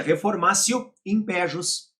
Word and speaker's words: reformatio in pejus: a minha janeirinha informacio você escreve reformations e pronuncia reformatio in pejus ou seja analisando um